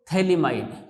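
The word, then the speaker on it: phthalimide: इसका नाम है एन एल्किल, ठीक है, एन एल्किल और थैलीमाइड, पीएच साइलेंट रहता है, एन एल्किल थैलीमाइड, ठीक है बच्चों।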